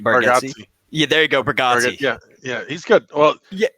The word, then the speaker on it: Bargatze: I think it's pronounced Bargatze. Nate Bargatze. Yeah, there you go, Bargatze.